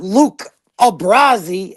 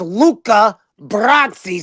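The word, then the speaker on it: Luca Brasi: he goes yo Chrissy it's not Luke brazy it's Luca brzi say it right that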